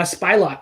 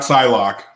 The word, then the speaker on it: Psylocke: uh um lula lulu who was doing uh spylock who's basically the new spy luck right yeah not psylocke as some idiot said psylocke yeah the s